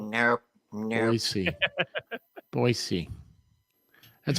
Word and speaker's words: Boise: Boise, not Boise. It's no, Boise. I said Boise. He did say Boise. He said it right. Yeah, I know he did. But a lot of people will sit there and go call it Boise, and you're like, oh no, you're not a local.